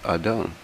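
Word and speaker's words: אדם: Strong's reference H120 is pronounced Ahdum.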